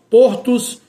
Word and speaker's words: Portos: Os portos e os cardos. Os souzas e os raposos, vogal fechada é por fia. Aqui nesse caso, em relação a esses nomes próprios de família, nesses quatro casos mencionados, o não muda o timbre, ou seja, não sai do timbre fechado para o som aberto, permanece no mesmo timbre, o timbre fechado.